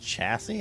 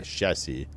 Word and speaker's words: chassis: For reference, this is a word of French origin. And in French, it is said as chassis. Yeah. Okay. Chassis.